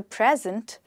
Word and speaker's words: present: no time like the present he thought it was time to present the present so no time like the present with the stress on the first syllable present means the time